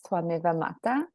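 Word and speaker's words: त्वमेव माता: yes, and but then when you actually pronounce it, the V turns into more of like a W. So it's Twameva Mata.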